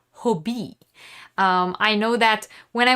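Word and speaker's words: Hobbii: they are based in denmark so they're actually pronounced hobie i know that when i watch other youtubers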